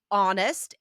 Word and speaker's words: honest: this will help because these are all silent H's in French, right? There you Honnête. go. Yes, silent H in French, silent H in English.